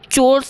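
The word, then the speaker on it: chores: तो चोर्स या फिर कोर्स ऐसे ही बोलते हैं इसको।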